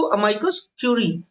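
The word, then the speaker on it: amicus curiae: पहले पढ़ते कैसे इसको, अमाइकस क्यूरी। अमाइकस क्यूरी का जो ये जो शब्द है ना, ये आपके स्पेलिंग एरर में भी पूछा गया है। चूंकि ये स्पेलिंग एरर में क्यूरी पढ़ा जाता है लेकिन देख रहे हैं आप स्पेलिंग किस तरीके से लिखी हुई है।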